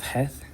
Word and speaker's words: chet: The eighth letter of the alphabet is called chet instead of heth. In Sephardic Hebrew, it's het, and it's a lot softer than the ch sound.